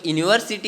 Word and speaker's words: university: So university, u may be a vowel, but we pronounce that word university, u, the pronunciation of u, university, right?